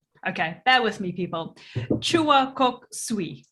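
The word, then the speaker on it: Choa Kok Sui: Chua Kok Sui. Did I say that right? Yes. Yeah, very good.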